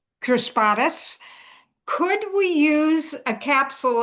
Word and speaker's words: crispatus: newest one called and I'm probably going to pronounce it wrong uh chrispastasis crispatus chrispatus could we use a